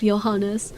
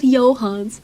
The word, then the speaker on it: Johannes: The one thing I refuse to budge on is the pronunciation of Johannes. It's not Johans. Who the pronounced his name Johans?